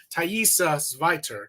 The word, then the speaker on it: Thaisa Zweiter: This is the only time I'm looking right at the camera, but we're going to bring on actress and dancer extraordinary Thaisa Zweiter.